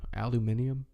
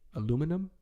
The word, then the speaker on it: aluminium: Aluminium. Y'all still using aluminium? Like there's aluminium. There's too many syllables for what that is. Aluminum. Aluminium. Y'all added a whole nother syllable.